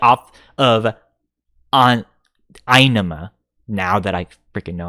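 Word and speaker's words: Ænima: Inema, Anima. I think the way that symbol is written, the correct way to pronounce it is I. So technically, the correct way to pronounce it is Inema.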